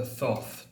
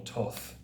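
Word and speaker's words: Thoth: in the Crowley deck the thof deck or Toth deck depending on how you pronounce it um Pentacles are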